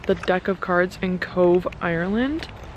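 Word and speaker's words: Cobh: sound so it's about c-o-b-h but it's pronounced cove and oh my gosh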